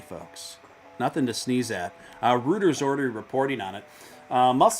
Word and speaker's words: Reuters: The only thing that's good about Reuters is it rhymes with Hooters, which is whimsical.